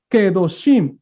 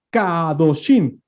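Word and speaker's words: קדושים: Kedoshim, exactamente. No podemos decir Kadoshim. Claro.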